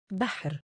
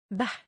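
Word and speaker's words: بحر: Such as Bahr, Bahr, Bahr means sea. The letter which has sukoon, it is pronounced with the letter before it.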